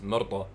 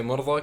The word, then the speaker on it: Mirza: the way I think it's pronounced is Mirza. In Arabic, like that. Really? But in my accent, we say Mirza. We butchered because Yeah, Arabic yeah. is like is bad. So Everything, basically, yeah, how literally. is it supposed to be pronounced in your language? How do you say it in Urdu, Mirza. I believe?